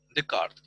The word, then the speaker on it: Descartes: se llama rené n descartes pero se pronuncia de kart el de carne ese es esto nuestro